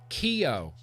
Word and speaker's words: Ceò: Here's where we're going to vape, taste, try the Keo, which I had been pronouncing wrong. Thank you, Pam. Keo.